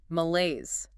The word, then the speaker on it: malaise: Number 7, malaise. M-A-L-A-I-S-E, pronunciation. Malaise. Stress on the second syllable. Laise. 2 syllables.